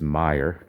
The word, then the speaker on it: Meyer: In case you wondered how it's pronounced, it's Meyer, Jesse Meyer. I asked him personally, how do you pronounce it? And that's what he told me.